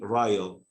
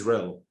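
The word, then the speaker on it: rille: The word is rel, R-I-L-L-E, and he was saying Ryle, and he's from England, London, and he didn't correct himself. Maybe he thinks it's Ryle, but actually the pronunciation is rel. American English, Australian, Canadian, British, rel.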